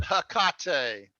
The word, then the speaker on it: Hecate: They pronounce it Hecate. Hecate. This is Latin word, right? Greek. So a Greek, it's what? A Greek word? Or Latin? It's Greek. Hecate.